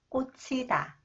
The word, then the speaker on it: 꽂히다: When 히읗 comes after the final consonant 지읒, 지읒 combined with 히읗, it is pronounced as 치 sound. 꽂히다, 꽂히다.